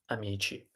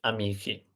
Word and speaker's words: amici: So C plus I, chi, C plus H plus I, ki.